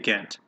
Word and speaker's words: Ghent: We negotiated a treaty with the British known as the Treaty of Ghent. That's how you pronounce that.